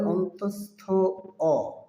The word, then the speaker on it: য়: দর্শক, বর্ণটির সঠিক উচ্চারণ হবে অন্তস্থ অ।